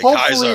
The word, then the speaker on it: Caesar: Caesar, they would say Kaiser. It was old Latin, old classical Latin. Kaiser. They would say Kaiser, not Caesar, which I thought was Exactly.